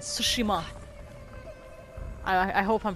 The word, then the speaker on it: Tsushima: tsushima oh watch out i think the t is silent because someone's bound to see us at the beginning he said sushima i i hope i'm